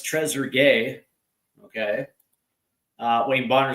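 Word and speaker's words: Trezeguet: So, we have uh so here's the uh here's Shimu Vandu who's who says Tresugay is how it's pronounced. Why? I I appreciate that one. Uh or it's Treasure Gay.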